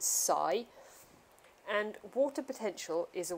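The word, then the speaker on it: ψ: so this letter here it's a Greek letter and we pronounce it Sai and water potential is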